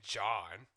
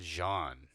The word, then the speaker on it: Jean: It's not even John. I said Jean.